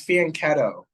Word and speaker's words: fianchetto: respond with E6 okay but it's fien ketto it's not me I'm just reading what chat wrote the GP wrote but the CH is just pronounced C I'll let the salt